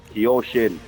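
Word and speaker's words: Kyoshin: Kiyoshin. Yeah, man. Yoshin? Kiyoshin. Three Kiyoshin.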